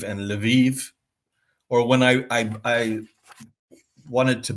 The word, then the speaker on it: Lviv: My first visit, I of course mispronounced. I said Kiev and Lvov instead of Kiev and Lviv.